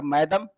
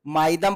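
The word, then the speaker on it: Moidam: तो चराई देव, यहाँ पर मैदम, इसको कुछ लोग माइदम पढ़ते हैं, कुछ लोग मैदम पढ़ते हैं, जैसे इसको जिसको, क्योंकि ये प्रोनाउंसिएशन बहुत गड़बड़ कर जाता है, इसलिए याद रखिएगा इंग्लिश में नाम है तो मैदम याद कर सकते हैं।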